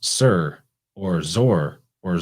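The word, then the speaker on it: Tyre: phoenicia tur isn't by a lot of people pronounced tire or tear because it's spelled t-y-r-e but it's pronounced sir or zor or zur it's all phonetically the same because it's from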